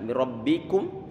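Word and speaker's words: مِنْ رَبِّكُمْ: Mim kasroh mi, bukan mi. Mir rabbikum, ini ra dia dibaca tebal karena ra-nya dia difathahkan rabbikum ra. Kemudian rabbikum, ini ba dia dikasrohkan, tentunya dia adalah tipis. Ba dikasrohkan bi tipis dia.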